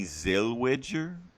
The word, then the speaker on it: Zellweger: So I know Renee Zellweger.